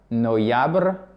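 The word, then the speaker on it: ноябрь: La série se prononce quasiment de la même façon. Sentiabr. Octiabr. Ok? Sentiabr. Octiabr. Noyabr.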